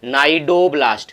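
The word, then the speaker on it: cnidoblast: वाले में उड़ा था नायडू ब्लास्ट हो अच्छा ठीक है जिसमें सी साइलेंट रहता है कि नायडू प्लास्टिक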